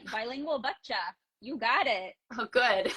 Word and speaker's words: Bilingual Bachcha: Bilingual Bachcha.